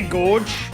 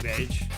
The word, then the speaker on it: gauge: People say gorge. I'm pretty sure it's not gorge. I don't know. I don't know if it's like a British thing. I always called it a fuel gauge.